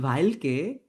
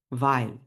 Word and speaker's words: weil: ভাইল, এটার উচ্চারণ কিন্তু ভেইল না, অনেকে ভেইল বলেন, না এটা ভেইল না, ভাইল। আমি জার্মান শিখছি কারণ, এই যে কারণই হচ্ছে ভাইল।